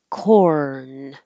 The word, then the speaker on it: corn: heard pop and making a k corn and then it goes to the in position corn so that you can hear the r corn on the cob